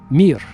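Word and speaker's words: мир: In Russian, it's the word mir, M-I, just 3 letters, mir. Just like the space station, remember the Soviet space station called Mir?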